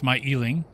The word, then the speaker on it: Myling: Or Myling, as I have been corrected on how to pronounce that. Apparently it's Myling.